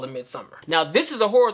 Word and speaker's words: Midsommar: wrong because it looks like it should be pronounced Midsommar, but I heard the director say Midsommar, so I'm gonna call it Midsommar.